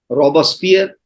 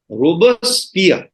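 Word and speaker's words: Robespierre: ने भी किया है वह है रॉबरस्फीयर जिसको फ्रेंच भाषा में प्रोनाउंस करते हैं बोलते हैं रॉबर्स पिया उसे व्यक्ति ने सबसे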